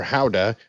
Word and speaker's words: Gouda: Gouda we had some Gouda um and it was really gouda uh gouda or howda as the locals say is a Dutch cheese